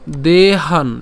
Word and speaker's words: দেহান: এরপর তথা দেহান, এখানে আমরা কি উচ্চারণ করছি? দেহান, অর্থাৎ হ আকার দন্তনা পর্যন্ত নিয়ে আসলাম, দেহান।